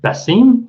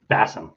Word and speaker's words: Bassam: All right, so is it Basim or is it Bassam? I keep wanting to say the name. I might just say Mr. because I feel like I can pronounce that one. Bassam, gotcha. Okay, thank you.